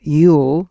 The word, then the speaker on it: Eul: My next guest, Eul, that's spelled E-U-L, is a German journalist working with